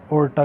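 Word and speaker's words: aorta: वो जाता है हमारा ओर्टा की सहायता से। ओर्टा एक हमारी धमनी होती है, ए इसमें साइलेंट होता है।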